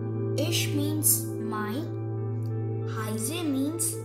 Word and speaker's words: ich: is my name so in English this is pronounced as in German it's pronounced as ich so this also means